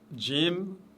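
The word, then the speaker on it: جيم: Jim, toujours légère cette lettre, aucune exception. C'est le J de la langue française prononcé légèrement. Quand je dis le J avec un D devant le J.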